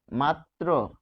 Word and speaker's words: মাত্র: রফলার ক্ষেত্রে বলা হচ্ছে যে শব্দের সে মধ্যে বা শেষে রফলা যুক্ত থাকলে দ্বিতসহ রফলার উচ্চারণ হয়। কিরকম? মাত্র।